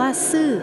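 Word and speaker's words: 死: ว่า ซื่อ ซึ่ง ออก เสียง เหมือน คำ ว่า ซื่อ ที่ หมาย ถึง ตาย เรียก ได้ ว่า แค่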